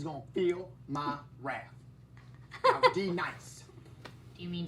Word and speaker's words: D-Nice: Now, D nice. Do you mean Denise?